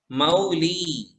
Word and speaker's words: मौली: भक्तामर प्रणत भक्तामर प्रणत मौली। मौली। कई लोग मोली पढ़ते हैं, मोली। देखिए, एक मात्रा और दो मात्रा में अंतर होता है।